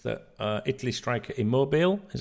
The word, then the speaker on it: Immobile: the same publication also says that Italy Striker immobile is how he pronounced his name 33 is expected to stay